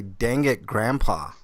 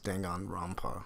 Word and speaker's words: Danganronpa: I was decent DSP I'd say dang it grandpa is how he pronounced his danganronpa so when Weiland told